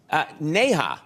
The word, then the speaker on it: Neha: former Miss India yes Neha yes yes Nia last name is is Kapoor yeah couple yeah and so it's two syllables yeah yes shows Conan